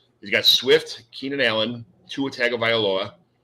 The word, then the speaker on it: Tua Tagovailoa: He's got Swift, Keenan Allen, Tua Tagovailoa. I love saying that because I could say it because I'm a Dolphins fan, so I could say it correctly.